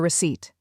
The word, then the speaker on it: receipt: Keep your receipt. Example three. She lost her receipt. The P is silent.